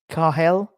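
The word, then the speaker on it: Cathal: Right, okay, so it's pronounced Carhel. Carhel, is that right? Carhel? Carhel, is that right? Basically, the T is Irish for Charlie.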